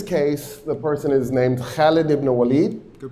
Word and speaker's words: Khalid: Um, in this case, the person is named Khaled. Good pronunciation.